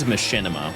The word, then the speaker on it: Machinima: Not only did you say it wrong, you don't even know where it's originally from. Mods ban that guy. It is machinima.